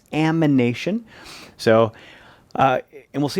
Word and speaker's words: amination: you start with now notice this is reductive amination not animation it's going to be difficult to say and i guarantee you're going to say it wrong at least once but it's not animation it's amination so uh and we'll